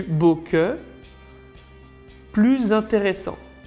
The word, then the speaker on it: plus: En général, dans une comparaison, on ne prononce pas le S de plus ou de moins, sauf quand le mot suivant commence par une voyelle. D'ailleurs, la prononciation sera Z. Plus beau que, plus intéressant,